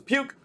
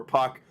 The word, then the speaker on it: Puk: for AJ Puck uh like not spelled like hockey puck uh I thought it was puke but it's Puck um a Puck is